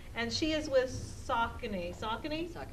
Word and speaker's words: Saucony: Saucony? I've always said it wrong, so that just only learned the correct word there.